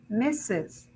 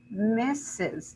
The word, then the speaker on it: misses: you think about it the verb miss how many syllables does it have it has one syllable right and if i say misses how many syllables do i have misses i have two syllables right so if we compare